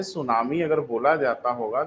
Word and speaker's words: सुनामी: actual में इसका नाम सुनामी नहीं है बेटा सुन लो इसका नाम सुनामी है और इसकी शुरुआत टी से होती है साइलेंट होता है है ना ब लेकिन